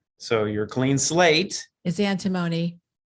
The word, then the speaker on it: antimony: your clean slate is antimony and timoni i'll get my pronunciation correct antimony i i checked it